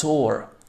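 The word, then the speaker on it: tour: ही is going टू अ टूर. बहुत सारे लोग टूर बोलते हैं, ये टूर नहीं होता है, this is टोर, टोर, right?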